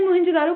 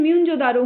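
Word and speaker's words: Moen-jo-daro: Actual में कुछ archaeologist का मानना है कि हम जैसे मोहनजोदारो को प्रोनाउंस करते हैं वो गलत है। उसकी प्रोनाउंसिएशन म्यूनजोदारो होनी चाहिए, क्योंकि सिंधी में म्यून का मतलब होता है डेड पीपल और जोदारो का मतलब होता है प्लेस या लोकेशन।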